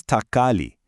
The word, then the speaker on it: തക്കാളി: In Malayalam, this is thakkali.